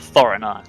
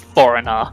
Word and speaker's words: Thorinar: We're also going to make a point of trying to pronounce the TH properly sound of Thorinar, not Foreigner, like I did last time.